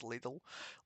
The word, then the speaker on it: Lidl: I actually Lidl so that's how they pronounce over there as Lidl.